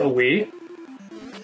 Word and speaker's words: Wii: A Wii. Oh, is it a Wii? Yes. Yeah. That's how you pronounce it? W-I-I, yes. I think that is pronounced that's Wii.